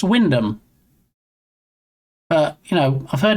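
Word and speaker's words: Wymondham: So, it's pronounced Windom, but you know, I've heard it pronounced Wondom, Wond Ham.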